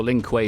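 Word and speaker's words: Lin Kuei: verse SLU kangs oh also Lin Quay is pronounced like Q believed to be a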